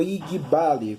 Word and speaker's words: Igbalé: Eu coloquei lá na minha timelines do Facebook o seguinte tema: Oiabalé, ou Igbale, como pronunciam aqui na cidade de São Paulo.